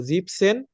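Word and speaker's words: siebzehn: মানে 70 আর 17 শুধু এই ক্ষেত্রেই জিবেন কে আমরা জিপ বলবো জিপসেন মানে 17 আর জিপ সিস মানে 17 বাদবাকি সব জায়গায় যেখানে সেভেন ব্যবহার হবে সেখানে জিভেন টা উচ্চারণ করবেন ওকে কি হবে জিভেন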